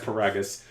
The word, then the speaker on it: Paragus: And his father, Paragus, however you pronounce his name. It's Paragus.